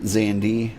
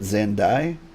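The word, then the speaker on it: Xande: While you pronounce it Xandi, I think most people pronounce it Xandai. I'm going with Xandi.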